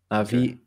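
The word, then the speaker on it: נביא: indicate that it's a it ends on a glottal stop, so it's probably just a short E sound at the end, Navi.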